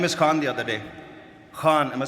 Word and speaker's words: Khan: Khan, am I saying it right? Khan from the epiglotus.